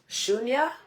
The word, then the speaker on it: Shunya: The third one is Shunya, which is spelled S-H-U-N-I.